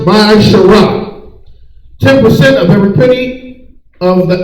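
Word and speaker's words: מעשר: It means a tenth in Hebrew and pronounced Ma'asharah.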